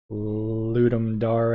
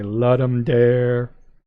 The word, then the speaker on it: Ludum Dare: Game Jam it's a Ludum dare a the difficult word to remember it's Latin it means to give a game Ludum dare a lot people say let him dare said that way a lot think about